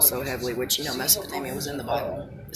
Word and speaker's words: Mesopotamia: I'm watching a documentary on ancient Mesopotamia and the Sumerians. Yeah, I said Mesopotamia.